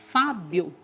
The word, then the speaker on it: Fábio: Que aí, pronunciando tudo junto, fica Fábio. E o acento, né? Porque a gente fala bem mais forte o Fá.